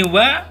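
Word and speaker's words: は: positif ya atau pernyataan, ini huruf yang harusnya secara huruf hiragananya dibaca H, tapi dalam pola kalimat nani-nani wa, nani-nani des ini dibacanya wa.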